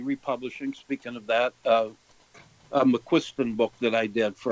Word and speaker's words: McQuiston: The way they used to pronounce that is McQUISTON, like the McQUISTON. But believe me, I've heard 4 people who speak Gaelic tell me how you pronounce it, and I still can't tell you how it is. But anyway, it came out McQUISTON for my family.